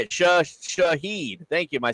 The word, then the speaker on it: Shaheed: Shaheed. Thank you. Am I saying it right? Rashid. Yeah, it's just because Shaheed. you're adding an extra S in the middle of his name that's not even there.